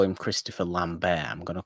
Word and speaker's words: Lambert: If he's actually French, then I'll say French. Lambert. Yeah, he's French. Bear. Lambert. You don't really roll your R's, do you, that much? You just kind of stop your R's.